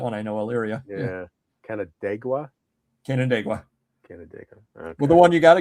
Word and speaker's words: Canandaigua: Don't ask me to pronounce anything. Worcester. Exactly. Is that Worcestershire sauce? Worcestershire. Yeah, yeah. At least I got Canandaigua down. No, you don't. It's Canandaigua.